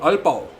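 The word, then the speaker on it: Aalborg: the town that or the city that jonas comes from is called alba but it's it's spelled alborg so they both have the double a that becomes the oh and it gives all and then by the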